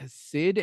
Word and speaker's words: Cyd: Speaking of mothers we just met, Sid Heyman, that's spelled CYD, plays Sue Crawford and later Rena.